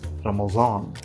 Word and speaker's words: Ramadan: that at that time modern day Ramadan was actually pronounced something like ramazan this sound is a